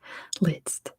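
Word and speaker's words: Liszt: next airport person is list at least that's where that's how we say his name in American English list Fierce got it spelled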